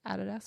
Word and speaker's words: Adidas: Adidas. Adidas. Adidas, however you want to pronounce it, wherever in the world you are, but in Australia it's Adidas to us.